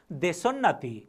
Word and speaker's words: देशोन्नति: यो शब्दको उच्चारण तपाईहरूलाई अलि गाह्रो लाग्न सक्छ। देशोन्नति, देशको उन्नतिबाट देशोन्नति शब्द भयो, देशोन्नति।